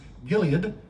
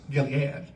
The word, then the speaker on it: Gilead: By the way, it's actually pronounced Gilead, but that's not how we say it or sing it, so it's Gilead, right?